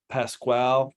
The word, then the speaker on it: Pasquale: to have a guest um our guest is Pasquale cocobella am I pronouncing that right that's right Pat Pascual cacavella